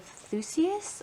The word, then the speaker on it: Theseus: this book here this is the ship of theseus i believe is how you say that it's